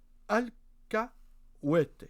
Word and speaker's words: alcahuete: espagnol, je te l'ai vérifié, mot que j'ignorais, alcahuete, je présume que ça se prononce comme ça.